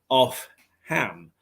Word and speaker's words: Opham: But in fact, if you read it out phonetically, it's Opham, off Ham, and that village is still thriving today.